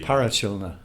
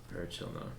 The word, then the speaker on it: Parachilna: Um, First of all, just wanted to talk about your new album, and how's it pronounced, just so everybody. Parachilna. Parachilna.